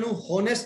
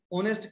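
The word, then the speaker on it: honest: तो ही इज एन ऑनेस्ट बॉय, क्योंकि आपा एच साइलेंट है, इन्हें होनेस्ट नहीं कहते, ऑनेस्ट कहने हैं, तो ऑनरेबल है, होनरेबल नहीं है, ये है।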